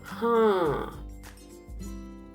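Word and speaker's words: हाँ: Yes is ha. Again, notice underlined N is showing you that the word to be pronounced using nasal sound, or the sound should go through your nose, passes through your nose.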